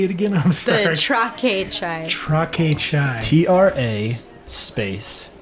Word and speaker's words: Traque: The Traque chai.